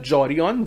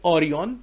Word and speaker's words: Jorion: Remember one thing, this is not Jorion, J is silent here. So Philip Orion is the book author's name.